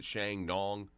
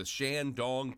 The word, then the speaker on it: Shandong: I've been pronouncing it Shandong, but it's the Shandong province.